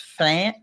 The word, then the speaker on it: Pham: So Joanne, I believe her last name is pronounced Flam.